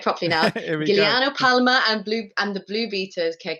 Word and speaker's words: Giuliano Palma: Giuliano Palma and the Blue Beaters Ke Cosa Che.